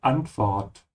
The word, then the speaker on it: Antwort: Here also make sure to open your mouth on the A, Antwort.